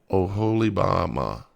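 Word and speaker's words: Oholibamah: Let me look at the pronunciation. Oholibama.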